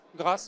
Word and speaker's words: GRACE: On prononce en français d'ailleurs ou en anglais, c'est GR Grâce.